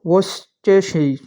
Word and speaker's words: Worcestershire: और वोस्टेशिज, इसकी प्रोनाउंसिएशन आप देख लीजिएगा, वोस्टेशिज, ठीक है, ये जो है इसका सही आंसर यहाँ पे बनेगा सी, ठीक है।